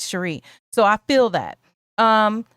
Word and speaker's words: Cheri: And you know, I get called Sherry and Cherry and other things besides Sheree.